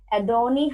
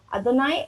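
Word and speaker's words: אדוני: Name of God, Adoni Haaretz. Adoni Haaretz. So please help me in the pronunciations. I also have... Adonai Haaretz. Yeah, Adonai.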